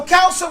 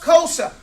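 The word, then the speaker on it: كوسة: The words that say ow turn into o words. So kausa would be pronounced kosa.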